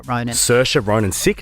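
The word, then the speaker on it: Saoirse: I'm about to talk about an actress called sersha Ronin you would know her name because nobody ever knows how to pronounce it it's an Irish name that is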